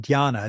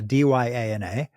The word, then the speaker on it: dhyana: So there's jhanas, Jhana, or if you're being Sanskrit about it, dhyana, Dyana. And so jhana is the Pali.